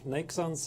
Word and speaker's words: Neiksans: joined here by arced how do I pronounce your name property I think it pronounced it just fine Oh make sense is the English person like sense is the German version as long as you